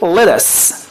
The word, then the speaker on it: lettuce: lettuce تي تي دبل تي دي، نخليها دي خفيفة، نقول ايه؟ lettuce lettuce lettuce lettuce lettuce lettuce.